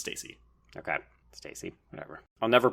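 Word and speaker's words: Stasey: Stacy or Stacy she's I was gonna say it's only one s so it's Stacy okay Stacy whatever I'll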